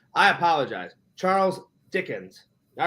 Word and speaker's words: Dickens: stories ever yeah Charles Dickinson yeah he's a good guy yeah is that how you say his name no it's Dickens Dickens I'm sorry I